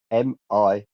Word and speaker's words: milieu: You can spell it phonetically. Millyuh.